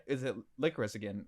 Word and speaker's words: Lycoris: So it's followed by these two, Lycoris, Chisato, and Takina, I think. You're right. And Takina. Takina, yeah. Bro, my pronunciation is shit.